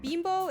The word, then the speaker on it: Bimbo: I've always read it as Bimbo. I know it is Bimbo. It's pronounced Bimbo. That's the name of the brand.